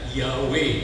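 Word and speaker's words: Yahweh: ya yaw Mirip ya Yang ini e dibacanya yawe Mirip ya ini yawa Mirip kan Tapi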